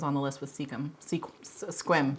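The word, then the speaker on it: Sequim: Squim. It's spelled like Seacom, but it's pronounced Squim.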